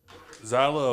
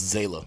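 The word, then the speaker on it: Zaila: Zyla Avant. I think it's Zayla.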